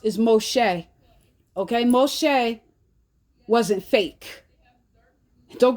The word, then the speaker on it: Moshe: Y'all like to sit there and call Moses fake, which his real name we pronounce is Moshe.